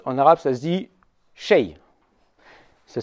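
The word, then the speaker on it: شيء: Un quelque chose, en arabe, ça se dit shay. Ça s'écrit comme ça.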